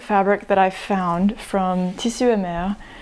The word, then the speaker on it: Tissu et Mer: that I found from Tissu et Mer, which I'm pronouncing it in French because that's what they have.